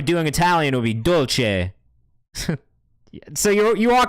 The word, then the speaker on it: Dolce: But like if we were doing Italian, it would be Dolce. So you are correct. You are correct in the classic Italian pronunciation of Dolce.